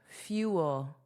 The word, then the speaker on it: fuel: Let's review the pronunciation together. Fuel, fuel. So notice there are two sounds, and that's the important part of this pronunciation. Fuel, few. So it's just like the opposite of many, few. Okay, ew, few. And then it's that dark L, so ol, fuel, fuel, fuel.